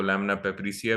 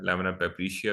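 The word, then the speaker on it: lamina papyracea: इसको लैमिना पेप्रिसिया भी कहते हैं। इसकी मल्टीपल प्रोनाउंसिएशंस है, लैमिना पेप्रिशिया भी इसको कहा जाता है। यू can choose wit ever pronunciation you like.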